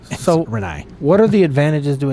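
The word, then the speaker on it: Rinnai: it's uh re re renei the a is silent yeah it's not Renee renei what are the advantages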